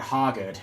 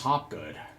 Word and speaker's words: Hoggett: I butcher the name it's not Hoggett it's hot good all righty ma'am We